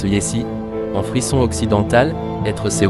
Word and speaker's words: jessi: On écrit jessi, mais on prononce yessi.